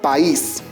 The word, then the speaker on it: país: Finalmente te dejo para que puedas analizar la palabra país. ¿Cuántas sílabas tiene la palabra país? Observa con atención. Correcto, son 2 sílabas. País.